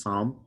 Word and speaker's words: psalm: see which is psalm which is why the word psalm in english has that silent p the p is there in the greek but it's not pronounced in uh anglo-size languages or english languages which is a chanter